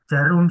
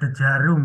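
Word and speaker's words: Djarum: Jarum super itu kan DJ ya. Bacanya jarum ya, bukan dejarum ngono ya.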